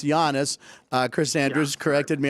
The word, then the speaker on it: Giannis: okay so Giannis Giannis who I used to call Giannis but it's Yannis uh Chris Andrews corrected